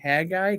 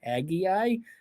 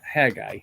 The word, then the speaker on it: Haggai: notes for haggai and I am going to say haggai because I don't like when people say Aggie eye because that's actually not how that's pronounced it's yeah hair guy okay but I've really